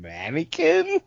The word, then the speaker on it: Manikin: Well, this track features Violent J, and it's Manikin. I spent a minute phonetically trying to sound it out until I realized, oh yeah, I remember Bill saying mannequin.